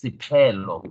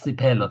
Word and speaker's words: Siphelo: Can I just beg your pardon and just say on the pronunciation of the name, it's Siphelo. It's not like an F. It's a P. It's Siphelo.